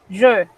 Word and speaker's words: je: Miren, cuando usted pronuncia el pronombre, es un sonido cerrado que en el español no existe. Pero cuando usted dice yo tengo, es un sonido abierto igualito que la E del español. Y suena más o menos así. Pronombre, je. Yo tengo, ye.